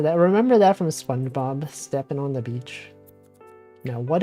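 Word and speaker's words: Stephen: A lot of names like that, where you would think it would be pronounced one way or spelled one way, but it's not. It's totally different.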